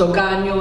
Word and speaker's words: hogaño: See how it rhymes, this year and last year? Hogaño, antaño, like that.